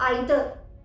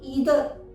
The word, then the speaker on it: either: अब आइदर UK pronunciation है, यूके के अकॉर्डिंग प्रोनाउंस किया गया है, वहीं ईदर यूएस प्रोनाउंसिएशन के अकॉर्डिंग है।